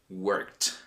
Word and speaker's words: worked: I'll give you two more examples, but in this case, I want you to pronounce it first. Read this word here. What does it say? It says worked.